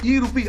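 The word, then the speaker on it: e-RUPI: कदम बढ़ा दिया है अब रुपया नहीं रुपी ई रुपी आर यू पी आई आर यू pi spelling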